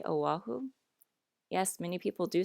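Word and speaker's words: Oʻahu: which means it's pronounced oahu so you see the importance of the okina without it we get oahu but it should really be o ahu mao popo understand okay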